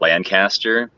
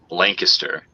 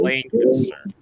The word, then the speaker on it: Lancaster: you're gonna pronounce it Lancaster, and we always yell at people that pronounce it Lancaster. What's the proper way of saying it again? Lancaster. There's like an L-A, a long A, Lancaster.